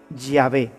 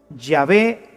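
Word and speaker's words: Yahweh: soy el que soy se pronunciaría o se diría ya ve ya ve te envía así es como habría sonado en hebreo antiguo lo que dios le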